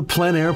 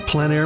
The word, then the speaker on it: plein air: This is the PleinAir Podcast with Eric Rhoads, publisher and founder of PleinAir Magazine.